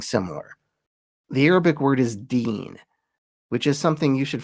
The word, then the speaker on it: Deen: The name is Salah al-Din, meaning righteousness of the faith, the last syllable being the important one, Deen.